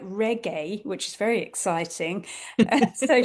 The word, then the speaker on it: Rikke: uh her name is Ricky which I think or it's or it's maybe pronounced a little bit more like Reggae which is very exciting.